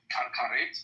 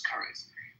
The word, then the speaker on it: karet: The only thing that's close to it is with karet, or what I pronounce as kares.